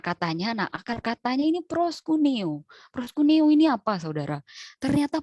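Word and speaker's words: προσκυνέω: Bacanya tuh proskuneo.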